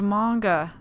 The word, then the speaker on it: manga: Chloe was so into manga nice hair it's pronounced manga oh and we kind of well we see